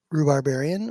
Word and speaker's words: Rubarbarian: This is Rubarbarian or. You can either use the five syllable word or one syllable.